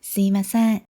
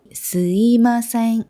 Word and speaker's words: すみません: 먼저 스미마셍 하면 저기요, 실례지만 좀 이런 느낌으로 하는 말이에요. 그런데 여기 이 스미마셍을 발음할 때 사실 여기 이 미 부분이 거의 이처럼 스이마셍 이렇게 하는 경우도 많이 있어요.